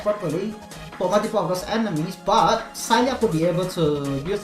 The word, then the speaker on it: Saileach: it is okay what's the correct pronoun sailia i'm not kidding it's silent pronouncing it name and irish you they're called an irish they're called sally trees on sally that's a pronunciation um thank you i'll